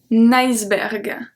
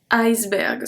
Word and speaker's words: iceberg: Un iceberg. Iceberg. So it's not really a E, it's an I. We pronounce it the same way in English.